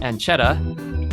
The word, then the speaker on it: Ancheta: Today's session is with Ancheta, as in pancetta.